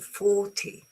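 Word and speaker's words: forty: So 14, but here's the beginning 40.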